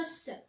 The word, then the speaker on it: os: يعني au singulier, c'est-à-dire qu'il يكون وحده نقولوا un os. ننطقوا الاس. C'est ça.